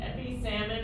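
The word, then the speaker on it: epipsammon: have we have EP EP salmon there is an extra p in there which is silent so it's not a misspelling and EP salmon is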